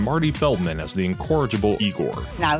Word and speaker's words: Igor: Peter Boyle, and Marty Feldman as the incorrigible Igor. Now it's pronounced Igor.